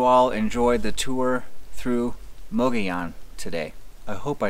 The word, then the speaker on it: Mogollon: enjoyed the tour through mogayan today i hope i said that right so or as the locals say moggy young there we go monkey